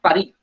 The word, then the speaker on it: Paris: J'habite à Paris. The pronunciation of Paris in French is Paris. The last S being silent.